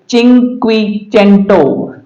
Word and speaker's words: CINQUECENTO: उसी तरह से है CINQUECENTO, चिंक्विचेंटो। चिंक्विचेंटो इसका उच्चारण होता है।